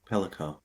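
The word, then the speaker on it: Pelicot: right with pel pelo okay say that again pelico pelico sorry so I don't mispronounce that again why that was so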